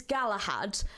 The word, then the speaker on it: Galahad: Okay, so next up we have got, I'm going to presume the pronunciation is Galahad, but it would be Ga1ahad if I said it the way that that's written.